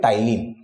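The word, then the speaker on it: ptyalin: Amylase या फिर टाइलिन। P silent है।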